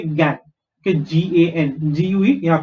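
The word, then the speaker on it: gangue: इसको actually, if you pronounce this word, you should say gangway, right? Gangway. But that's not how you pronounce it. You only say gang.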